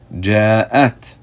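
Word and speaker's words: جاءت: vowel, fatha, and then you have the ta letter with a sukoon. How do you pronounce this word? If you get it, you should feel good about yourself. Ja'at, ja'at, meaning she arrived, she came.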